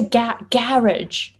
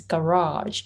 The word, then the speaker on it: garage: yes oh you say garage okay so in american english it's garage so the stress syllable changes race switches oh that's